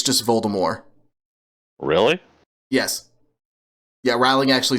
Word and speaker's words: Voldemort: this yeah well it's not supposed to be pronounced Voldemort it's just Voldemort really yes yeah ring actually said herself that